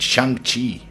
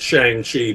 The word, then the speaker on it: Shang-Chi: You co-created Shang Chi. How do you pronounce his name? I call it Shang Chi because Shang-Chi. I'm not Chinese, but apparently in Chinese it's Shang Chi.